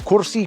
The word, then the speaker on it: kursi: Sometimes English speakers find the word kursi quite difficult to pronounce, and they might say kursi, but here we go. Kursi, kursi, kursi. Not Kursi, Kursi, Kursi.